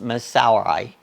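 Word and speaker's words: Missouri: How did I call it? Miss Soury. Miss Soury. Miss Soury. Miss Soury is the way.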